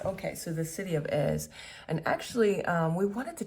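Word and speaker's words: Èze: Okay, so Ez. That's how you pronounce it. Yes. Okay. So the city of Ez, and actually, we wanted to check out there's a cactus farm or museum or garden.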